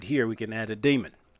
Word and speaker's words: daemon: we can add a daemon. I've heard it pronounced demon, as in like demon. And I've heard some people say daemon, but I think it's supposed to be pronounced demon.